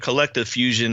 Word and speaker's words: KLCTVE Fusion: Yeah, it's Collective Fusion, and it's spelled a little differently. It's spelled with a K, but it's KLCTVE Fusion. That's Instagram. That's mostly where I post anything and everything. For short, I call it Collective. Like I tell people I could only afford one vowel.